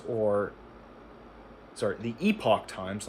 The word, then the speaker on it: Epoch Times: Views expressed in this article are opinions of the author and do not necessarily reflect the views of the epic times or sorry the epoch times not the epic times.